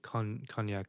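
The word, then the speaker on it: konjac: like I just kind of don't care drink it's spelled KO n j a c con knac knac jelly yeah this low calorie vegan large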